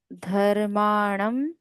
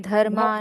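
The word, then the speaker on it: धर्मान्: यहाँ पे धर्मान, पहले नल का न, शेषेण, फिर बाण काट धर दो। धर्माणम। नहीं, धर्मान। धर्मान धर्मान न शेषेण। शेषेण। डिफरेंस है न और न में, हाँ।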